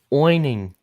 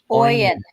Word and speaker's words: Oyen: People are still correcting me. Oining. Oyen. Yes, there you go.